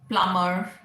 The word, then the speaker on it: plumber: We've done B silent, dumb, plumber, climb, thumb, where B was silent, debt, debtor, right?